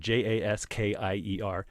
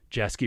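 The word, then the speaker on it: Jaskier: to the the audiobook i was hearing the pronunciation of jasper you you meet the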